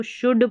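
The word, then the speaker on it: should: एल यहां पर silent है। इसको शुड पढ़ेंगे।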